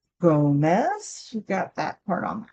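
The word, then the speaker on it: Gómez: It's got to have the accent on the front. Gomez.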